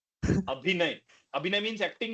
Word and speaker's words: अभिनय: सर मेरा विनय नहीं है, 1% अभिनय है सर।